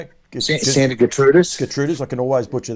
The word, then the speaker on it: Santa Gertrudis: Santa Gertrudis.